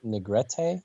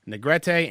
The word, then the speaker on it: Negrete: I think it's Negrete. Negrete and Channing Powell.